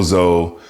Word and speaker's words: Tso: Not General Tso, not General Tso, General Tso. The T is silent, and I'm glad the